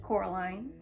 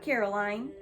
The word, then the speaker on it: Coraline: They kept calling you Coraline, not Caroline. Not Caroline at all."